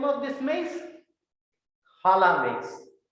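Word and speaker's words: Jala: name of this maze hala makes it's pronounced as j in spanish j a l a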